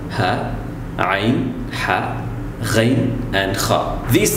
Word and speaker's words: خ: For example, it's the letter Kha. You have to do is put an A before the Kh sound and stop on the Kh sound. Akh.